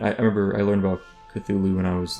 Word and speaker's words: Cthulhu: I used to pronounce it, I said this before, Cthulhu, but I really liked... I think it's Cthulhu.